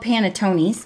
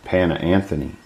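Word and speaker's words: panettone: in the old days well I call it paneton there's a a prettier sounding Italian way to pronounce it yeah the traditional way to say that is Pana Anthony oh before we keep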